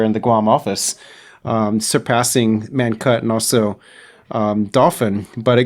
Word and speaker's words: Mawar: Yeah, how do you pronounce it first? Mawar.